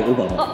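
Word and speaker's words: 小浜: 小浜って書いてオバマ。あれオバマって読む。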